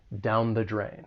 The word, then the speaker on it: down the drain: The only thing I would say is that the article is going to be pronounced with that schwa soundthe. It's that weaker sound down the drain.